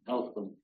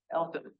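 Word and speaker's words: Eltham: Elam. Elam.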